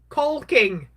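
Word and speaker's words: caulking: I've seen a lady do this with um with cocking. Hey, Helen. Culking is what they how you're originally supposed to say it. I don't say it like that, though.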